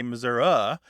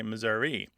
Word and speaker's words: Missouri: of the state was a bit more likely to say Missouri however that was 40 years ago and the trend over the years according to surveys done by Donald Lance and others um of students and other phone surveys is that the Missouri pronunciation was taking over and the Missoura pronunciation was disappearing except as you say